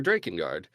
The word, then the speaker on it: Drakengard: So they changed it to Draen Guard or Draken Guard. uh, however you want to pronounce it.